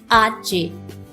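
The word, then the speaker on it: hache: and k so empezamos letter h is pronounced as archae arche and it sounds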